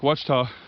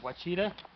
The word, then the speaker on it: Ouachita: Or if you're not from Arkansas, it's called Lake Ouachita. Ouachita? I call it a Ouachita. I don't know the actual term. No, it's actually Ouachita, but most people don't pronounce it right.